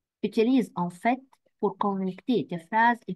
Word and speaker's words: en fait: Fais attention, on prononce la lettre T à la fin, en fait, en réalité.